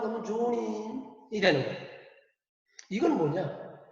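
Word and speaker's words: 町人: 그런데 이걸 이제 일본 발음으로 하면 조닌이 되는 거예요.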